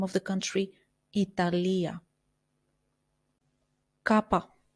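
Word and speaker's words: κάππα: of the country Italia Kappa Kappa which we pronounced as KO like in the word Kota Lambda Lambda which we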